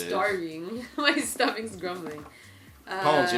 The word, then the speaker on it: Pwns: And this is our preview of Pwns. Like you just been pwned. Beep. But where's the A? No, it's gaming lingo. Your stomach knows what it is. Starving. My stomach's grumbling. Pwns, like you've just been pwned or owned.